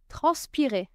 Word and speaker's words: transpirer: Transpirer. Transpirer. To sweate. You can hear three syllables. Trans pi re transirer.